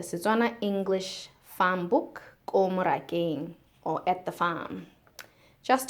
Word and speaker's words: morakeng: English farm book, Ko morakeng, or At the Farm, just to help in pronunciation. So, Ko is like a preposition, at. Moraka is farm, so at the farm is morakeng.